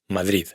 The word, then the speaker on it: Madrid: árab árabe d se pronuncia como t fred frío y por supuesto la famosa Madrid Madrid G se pronuncia como c dialog diálogo.